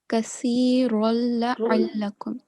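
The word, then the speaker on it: كثيرا لعلكم: This is how you would say this word. Kasirul la'allakum. Okay, there is not going to be any sound of noon.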